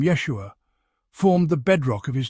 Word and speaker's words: Yeshua: be wondering how to pronounce this powerful name Yeshua it's not as complicated as it might seem phonetically it's pronounced Yeshua with the emphasis on the first syllable try it with me Yeshua feel the weight of the name the history